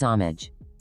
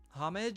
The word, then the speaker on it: homage: Kraisanian says homage. I don't know. Because they're girls. Five down. Geese make these noise. Honk. Honks. Plural. Oh, homage. Krazanian says the H is silent.